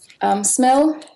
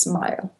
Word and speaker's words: SMIL: the web with it smell it's it's officially pronounced smile but I'm getting I